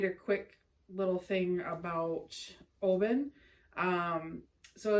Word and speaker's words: Oban: Oban. It's Oban? I-N. Oban? It says A-N on it, but they pronounce it I-N.